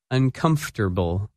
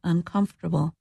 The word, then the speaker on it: uncomfortable: That word is uncomfortable. and its opposite, comfortable. When you say this word, you do not pronounce some of the letters that you see in the written word.